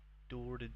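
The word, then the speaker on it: Đorđe: How do you say his name? Dorde. There's no J. Dorde.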